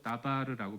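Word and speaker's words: דבר: 말씀이라는 단어가 히브리어로 다바르라고 발음하는 그 단어인데 이게 사랑하는 자녀들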